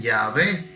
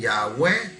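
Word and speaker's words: Yahweh: ellos no lo pronunciaban algunos dicen ya ve y hoy otros dicen ya web y nosotros decimos de oba pero realmente fue esto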